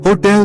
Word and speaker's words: hotel: Answer, the stress in hotel is on the second syllable.